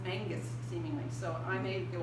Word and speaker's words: Menzies: cultivation but an older generation to him archibald menzies but in fact his name should be pronounced angus seemingly so i may go back and forth